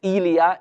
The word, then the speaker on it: Elia: In their scriptures, it's pronounced Elia in their Hebrew language.